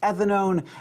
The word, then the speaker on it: ethanone: add al giving ethanol ketones add o and e pronounced ethanone amines at a mean